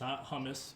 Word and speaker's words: hummus: of before we and it's hummus please everyone who's watching and for you as well that's how you say it and we make our